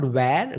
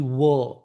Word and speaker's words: were: It's not where. We were in the group. No, we were. The word is called were.